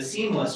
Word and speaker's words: CEAMLS: So if you do research on AI or want to do research on AI, the Seamless organization, that's our acronym, Cam LS, pronounce it seamless, um is a great thing to get involved with.